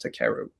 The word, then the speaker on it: Takeru: feel comfortable and saying actually my name is pronounced to keru right and so um